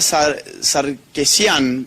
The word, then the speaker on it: Sarkeesian: Y en Canadá tenemos un caso que es fabuloso, que es el de Anita Sarkeesian, que siempre me lo corrigen. ¿Alguien sabe cómo se pronuncia bien?